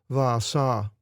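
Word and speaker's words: Baasha: In Greek, what looks like a B in English is pronounced with a V sound. Baasah.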